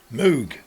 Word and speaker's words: Moog: Poo is spelled with two O's. Pouble o says poo, not po. Moog. Moo. Let's see what they're up to.